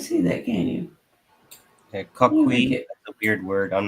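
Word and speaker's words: Coquí: That it's pronounced Coqui.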